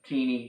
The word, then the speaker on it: Tini: by Jeff D co-writer teeny Howard and I know other people try to figure out how to say her name Tina Tina is teeny I mean obviously ti ni teeny or tiny teeny so this issue here